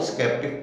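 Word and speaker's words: sceptic: तो ये स्केप्टिक शब्द बोला गया, एस के बाद सी आया, ई आया, लेकिन उसके बाद पी आ गया तो उच्चारण हुआ स्केप्टिक हुआ।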